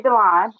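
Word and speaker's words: D'Lon: Well, it's actually pronounced. I thank my father for that. So it's Delon, and I am from Indianapolis, Indiana.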